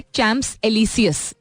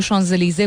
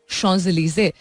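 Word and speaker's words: Champs-Élysées: तो फॉर the longest time बहुत सारे लोग दुनिया भर में प्रोनाउंस करते थे चैम्प्स एलिसियस, जिसको शॉन्ज़ेलीज़े बोला जाता है. अब वो लफ्ज आप देखें तो वो लिखा उसी तरह जाता है, चैम्प्स, जिस तरह हम कहते हैं ना चैम्प वाला चैम्प्स, एंड एलिसियस लिखा जाता है, बट इट इज शॉन्ज़ेलीज़े. That's how it's pronounced.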